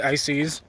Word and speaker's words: Isis: about the religion of Isis so Isis or Isis but pronunciation is technically ices is this Egyptian goddess